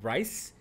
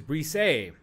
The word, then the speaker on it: Brise: Some people call it Brise. But I have it on good authority that the pronunciation is Brise.